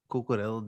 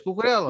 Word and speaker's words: Cucurella: Bam, how much better is Cucurella than freaking Asensio? And they're Oh both my goodness. Okay, Caesar, I'm gonna need you to stop pronouncing his name like Portuguese.